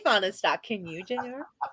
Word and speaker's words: Fahnestock: now you do now you know how to pronounce my last name correctly i can say fauna stock can you general how about those cowboys